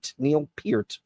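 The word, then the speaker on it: Neil Peart: they were and Neil Pier correct pronunci correct pronunciation Pier Neil Pier and I know for a fact because he corrected me when I was 14 years old I said Mr.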